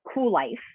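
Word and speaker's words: Kuel: again the online community is called cool life and that is a play on the whole idea of being cool and continuing to have a cool life it is spelled all cattywampus although it is in the urban dictionary as a synonym and it's spelled k with a k k-u-e-l life so if you go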